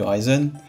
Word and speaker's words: Ryzen: Sur le Hackintosh, ce qui est plus facile maintenant, c'est d'installer sur du AMD, du Ryzen, ou Ryzen si on prononce à la française, je sais pas, mais c'est plus facile maintenant de faire un Hackintosh avec du AMD.